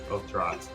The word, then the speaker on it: Otrot: How do you say the name? Otoro. Otrot? Otrot? Otrot. There you go. Like, Arturo.